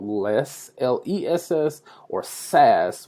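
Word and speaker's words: Sass: called LESS, L-E-S-S, or SAS, which is spelled differently, S-A-S-S.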